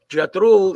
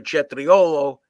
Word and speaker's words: cetriolo: Jatrul is actually the wrong pronunciation for cetriolo in Italian, which means cucumber, but it's used to mean a fool or a jerk off or something like that.